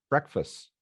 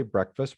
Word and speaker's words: breakfast: So for example, breakfast. A lot of people say breakfast rather than breakfast, right?